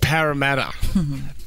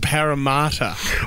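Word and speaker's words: Parramatta: number seven right Sydney's second CBD is not pronounced param but it's pronounced paramat oh camata that's that's ridiculous if anyone 13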